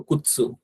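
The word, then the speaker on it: くつ: যখন আমরা এটা সিঙ্গেল বলি তখন এই টিটা আমাদের উচ্চারণে আসে না, কিন্তু যখন এটার সামনে কিছু একটা থাকবে তখন এই টিটার উচ্চারণটা হবে আর কি। তো কুৎসু, কুৎসু মানে হচ্ছে শুজ, হ্যাঁ।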